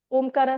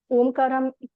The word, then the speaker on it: ओम: ओम में तीन साउंड आती हैं। फर्स्ट साउंड अ कर र आपके पेट से निकलता है। ठीक है? मुंह पूरा खोल के ओपन करके अ करके तो आपके पेट से वो साउंड निकलती है। नेक्स्ट आता है उकारा। उकारा में लिप्स राउंड अप करना है। मतलब उ शेप में आप प्रोनाउंस करोगे और उसमें चेस्ट से ब्रीथिंग होगा।